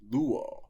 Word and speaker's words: λύω: It should be luo, with an acute accent on the penult.